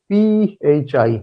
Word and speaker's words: phi: Null set is known as phi. P-H-I. We pronounce it as phi.